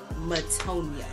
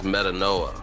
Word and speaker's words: Metanoia: let's talk about reincarnated motonia uh it's metanoa metanoa my stupid ass that's